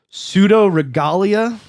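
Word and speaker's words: Pseudoregalia: got home last night called pseudo regalia is how it's pronounced it's it's um PSU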